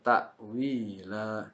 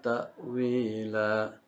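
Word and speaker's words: تَأْوِيلًا: Ini banyak orang yang terkadang keliru atau salah membacanya. Itu mentang-mentang nafasnya panjang lalu terbawa oleh lagu sehingga hukum tajwidnya terlewatkan atau bahkan keliru gitu ya. Jadi yang benar itu tidak dibaca panjang, hanya dua harokat saja.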